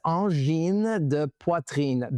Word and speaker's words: Angine de: But it's Anen dein.